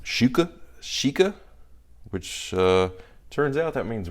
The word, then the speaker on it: XIKE: I guess they're pronounced Shika, which turns out that means rare customer in Chinese or Mandarin.